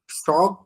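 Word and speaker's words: chaque: এল আশা পা শক মাতা, তাই কি উচ্চারণটা?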